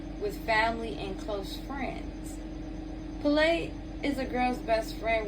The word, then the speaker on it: Pele: Oh, it's Pele. Pele. So it's spelled P-E-L-E, but the pronunciation is P-A-Y-L-E.